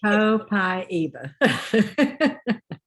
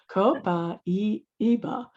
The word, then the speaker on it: Copaiba: Copabaya, I don't know how to pronounce it. Copaiba. You say it, please. Copaiba. Copaiba.